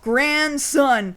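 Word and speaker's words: Gran Sun: I know it sounds like the word grandson, but no, Grand Sun.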